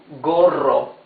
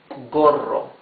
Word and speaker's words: gorro: For G followed by A, O, and U, it's the hard sound. Ga, go, gu, g. Yes? As in gas. Gas. That's gas, you know. Gorro. G-O-R-O. Gorro.